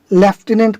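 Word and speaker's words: lieutenant: ठीक है, और रहा उच्चारण, तो उच्चारण बदलता है, इसलिए ल्यूटिनेंट को ब्रिटिश लेफ्टिनेंट पढ़ता है।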